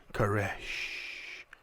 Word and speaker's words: Koresh: say it like a like a man's dying caresh he said it was just freaky that's the